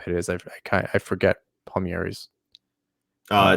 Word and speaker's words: Palmieri: if palmieri happens and it's palmieri not palmeri not for you just everybody else i see i hear everybody else not pronouncing it right um sorry the italian in me i just gotta i just gotta get it right um yeah you you